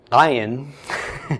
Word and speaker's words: ayin: But the the ayin, though, the sound it makes, the best approximation I can give would be an ng at the end of a word, like at the end of the word long. It's kind of like, but you have to make that sound at the beginning too. So it's kind of like you're swallowing your tongue.